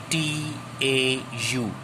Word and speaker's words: tau: Torque is denoted by this Greek letter which is known as tau. T-A-U. Tau. We pronounce as tau.